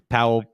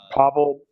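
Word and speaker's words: Paweł: Anyway, best director, Spike Lee, Black Klansman, Powell Pawlikowski. Pavel Pawlikowski. Pawlikowski. I think it's pronounced Pawlikowski. Powell Pawlikowski. That sounds right. He's Polish. I think it's Pavel.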